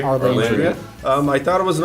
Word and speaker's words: Arlandria: Alandria? Arlandria.